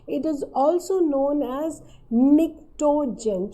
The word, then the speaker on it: pnictogen: It is also known as pnictogen. Children, P is silent, so it is PNICTO. It is P silent, so the name is pnictogen.